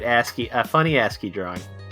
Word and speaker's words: ASCII: like happy 9 birthday i believe that's uh pronounced ascii ascii oh you're right ascii a funny ascii drawing